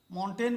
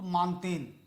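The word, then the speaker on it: Montaigne: एक फ्रांसीसी विद्वान हुआ जिसे मान फ्रांसीसी उच्चारण माउंटेन भी लोग बोलते हैं बट फ्रांस में ट नहीं है तो मानते मानते हुए फादर ऑफ निबंध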